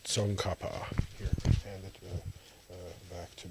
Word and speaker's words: Tsongkhapa: It's pronounced Tsongkhapa.